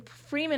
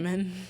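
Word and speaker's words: Fremen: because it's like Fman. The Fman. Yeah. Not Freeman. Free men. No, that you're right. It's Fman. Like that's how it's spelled. F R E M- N. Not free men.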